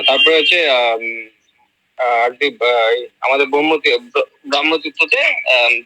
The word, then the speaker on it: ব্রাহ্মতীর্থ: এক মাস মগ্ন, মাস কলায় ডুবে এরকম জল ব্রহ্মতীর্থে যারা পান করতে হবে। উচ্চারণটা ব্রহ্মতীর্থ নয়, ব্রাহ্মতীর্থ।